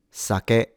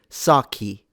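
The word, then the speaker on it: 酒: This word is pronounced sake, sake, sa, ke, sake. Note that the pitch is low to high, sake, and each syllable has the same length.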